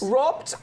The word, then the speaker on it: Robt: What was that again? Rops? Robt Bernhardt. Bernard. Yes, in the usual way it is spelled R-O-B-T.